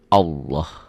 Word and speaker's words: Allah: ada tarkik tipis nih lafaz Allah dibaca tafkhim tebal berbunyi Allah jadi kalau mengungkapan ini seperti ada w-nya ya Ini juga bukan seperti ini ini kan dibacanya Allah salah enggak enggak ada